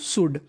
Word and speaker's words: should: यू शुड, SHOULD, इसे पढ़ते हैं हम लोग शुड। क्या पढ़ते हैं? शुड। इसमें हमारा L साइलेंट रहता है।